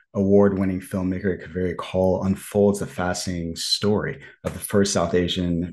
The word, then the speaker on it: Kaul: I am here with call is that the pronunciation your last name you did indeed yes thank you very